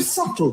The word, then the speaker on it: subtle: What subtle would anybody object if it was spelt S U T L E?